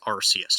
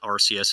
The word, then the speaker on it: Arceus: my first point is i will still pronounce it rcs and i will probably die on that hill for whatever ungodly reason you are well within your right to pronounce it incorrectly ah but dr gregory house pronounces it arceus and he is the